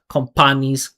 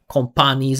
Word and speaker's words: companies: do yes, that's why it's so important not to make these super perfect consonant sounds because when you create that perfect P that explosion companies companies It's impossible to make it small because the only way that sound exists is if you create this huge burst of energy companies instead of companies.